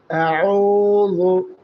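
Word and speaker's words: أعوذ: আউজু এখানে আ এটা হচ্ছে হামজা। বাংলা আর মতন উচ্চারণ হবে।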